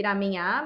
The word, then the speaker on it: ramen: E é o lamen que a gente fala aqui. No vocabulário japonês não tem um L. Ah, entendi. Então, gente, para quem tem dúvida, o japonês não pronuncia o L.